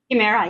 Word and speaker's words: Chimera: I actually have two questions for you because the name of your company is it pronounced Chimera? Chimera.